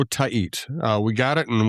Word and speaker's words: Tait: So, it's Eduardo. Eduardo Tahit.